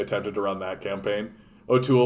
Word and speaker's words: O'Toole: one you like yeah nobody put together that o'toole rhymes with cool right that's how lame